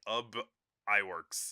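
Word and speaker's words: Ub Iwerks: This was also co-directed by Ub Eworks. I've never known how to say his name. But We'll go he with was Ub. yeah, his name is Ub Iworks.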